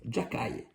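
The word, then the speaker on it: Xhekaj: Voilà, c'est comme ça qu'on prononce. Jacaille. Bon, c'est comme ça que le prononce au Québec. Arbert Jacaille, un peu le enhancer le gros bras du Canal Montréal.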